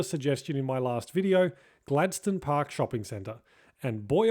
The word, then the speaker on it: Gladstone: Emphatically pronounced Gladstone and not Gladstone for any Americans watching, it's located on Gladstone Park Drive near the Tullamarine Freeway in the suburb of the same name.